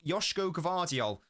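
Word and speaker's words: Joško Gvardiol: Yoshko Gavardial, uh, Avana, a Croatian viewer of the channel. She says that I'm pronouncing that pretty spot on.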